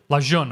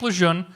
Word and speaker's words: Lejeune: North Carolina Camp Luzerne I don't know how to pronounce to spell that but that's how that's phonetic la John okay Camp Lejeune small bases in Alaska